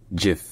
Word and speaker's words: GIF: N pas comme français c'est Jef donc avec un J déjà et avec un I qui est un i court et non un i long qui est très différent du I français qui se prononce plus plus proche d'un e que d'un i en réalité je vais